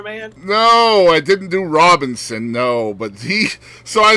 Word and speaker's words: Robinson: No, I said Robeson instead of Robinson. Oh, okay. Well, at least you didn't throw an N in there, man. No, I didn't do Robinson, no.